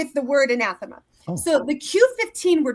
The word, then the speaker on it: anathema: The Latin pronunciation varied, but the most common you would hear in classical Latin is anathema, but in English it's always been anathema. So classical Latin emphasizes the 3rd syllable, and commonly emphasize the 2nd syllable.